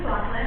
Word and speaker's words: McLaughlin: Is it Ms. McLaughlin? Close. Good evening again. My name is McLaughlin.